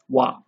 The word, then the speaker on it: は: So when it's a part of a word, we read it as ha. But when it's being used as a particle, we read it as wa.